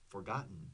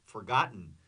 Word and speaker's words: forgotten: less es casido forgotten forgotten right I don't pronounce those t's forgotten or left behind the